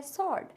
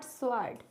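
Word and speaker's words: sword: ही हमारा आता है सर्ड तो सर्ड में डब्लू लिखा जाता है बट बोला नहीं जाता है इट्स शॉर्ट नॉट स्वर्ड टू में डब्लू साइलेंट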